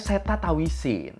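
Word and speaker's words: Srettha Thavisin: Oke, bapak ini namanya Seta Tawisin. Tulisannya kalau di media-media tuh pada Sreta ya, tapi bacanya Seta.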